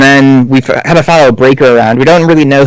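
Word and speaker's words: Brayker: So we're introduced right away to Brecker, right? Yeah. Breaker, yeah. Yeah, Breaker. I knew I was going to mispronounce it slightly.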